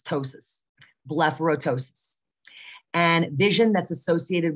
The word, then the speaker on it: ptosis: i always get tongue-tied the p is silent so it's not potosis it's ptosis blepharoptosis and vision that's